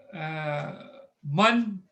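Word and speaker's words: مَن: So in Arabic, man. So this is not min. Min is from. Notice the difference. There's a fatha on the top. Man means who.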